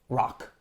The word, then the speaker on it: ROQ: the soon to open gym ROQ, or I guess it's pronounced Rock, in Seattle, Washington.